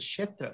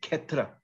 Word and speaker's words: Kshetra: Oh yeah, Chapu said Kshetra. That's another word with that syllable. Kshetra. And yeah, they would in Bengali they would say Ketra. Ketra. They just no S. Just turn the S into an H.